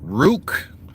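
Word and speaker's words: Ruke: I I suppose um Rook it's like Duke but it's spelled with a r r u k e and then his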